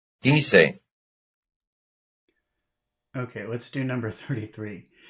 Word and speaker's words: quise: Lago, quise. Yes, they have the same stress. It's on the first syllable.